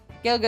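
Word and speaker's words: Gaeilge: Um, Irish is Gaelic or Well, they call it Galga. Gelga is what it's actually called.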